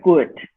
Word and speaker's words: could: Se pronuncia could, como si nada más pronunciáramos la C, la U y la D, could.